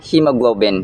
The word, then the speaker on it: hemoglobin: And by the way, ang pronunciation nito sa first syllable ay long e vowel sound. He hemophobia, hemoglobin. Hindi siya he kundi he. Ngunit may isang dugo na hindi dapat natin kinatatakutan.